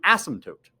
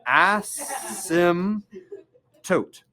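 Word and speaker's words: asymptote: is known as an ASM toote it's spelled weird it has a silent P do you guys know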